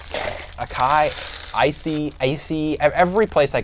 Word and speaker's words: acai: go pronounces it differently i've always pronounced it a kai bowl acai oh no i don't think that the c should make that noise at that in that word i disagree intensely with that pronunciation it sounds like an americanized version of the word can you agree with